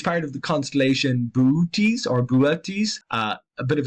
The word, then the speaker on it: Boötes: You have to pronounce those two O's separately, not just one long Boötes. It's Boötes or Boötes. Very tricky one to pronounce, someone who's not used to it, and that includes me.